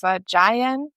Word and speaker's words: Jaén: The Jota in Spanish still hurts my throat. For you English speakers, it's Jaén. Jaén.